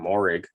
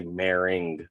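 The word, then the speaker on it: Moehrig: you ever notice that he would always say meringue like ing at the end and i was like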